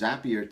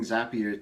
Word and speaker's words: Zapier: In video 11, I talked about having Zapier's happier. That's how you pronounce it, folks. I talked about how you can use Zapier to scrape social media,